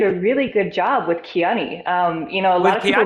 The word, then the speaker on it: Kiani: I think you did a really good job with Kiani. A lot of people mispronounce that too.